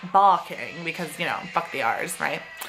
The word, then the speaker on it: Barking: i remember because it's called barking but it's pronounced balking because you know the ours